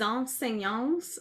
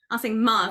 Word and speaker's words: enseignements: ma pratique aussi, je veux comme donner les enseignances, how do you say that? The teachings? Enseignements, thank you.